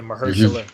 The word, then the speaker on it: Mahershala: Yeah, Mahershala.